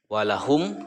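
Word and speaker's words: وَلَهُمْ: Walahum, cara membacanya idhar jelas ya, walahum jelas, dan kedua bibirnya itu tertutup.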